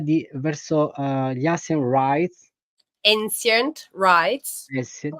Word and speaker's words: Ancient Rites: Ancient Rites. Ancient Rites, quindi Ancient. Non è così diverso da come lo pronunceremmo noi italiani.